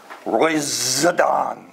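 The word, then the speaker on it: ῥοιζηδόν: up in strong uh Roy zadon you say it like that there's a z in there and it means a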